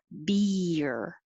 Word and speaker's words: beer: of air and 14 your tongue has to go very high for the e b and it slides down so it's almost two syllables because you go from very high to low and curled back so if you practice it that way beer it will sound good you can get a